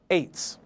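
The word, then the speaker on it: עץ: from right to left, ayin to sadi sofit, pronounced eitz.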